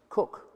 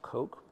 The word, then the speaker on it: Coke: by the name of Edward cook which pronounced crook not coke dug it out of